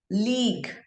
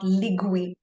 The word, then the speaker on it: league: League. League. Not ligui. Okay. Not ligui.